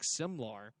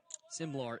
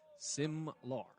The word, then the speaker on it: Simlar: Moe and diving back Silmar. Simlar is the correct way to say it. Simlar.